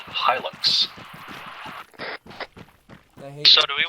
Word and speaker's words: Hilux: I think you'll find it is in fact pronounced Hilux.